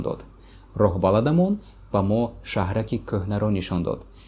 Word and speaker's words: кӯҳна: роҳбаладамон ба мо шаҳраки кӯҳнаро нишон дод. The word кӯҳна, which means old, usually people don't pronounce he in the middle. So it sounds like кӯҳна without he.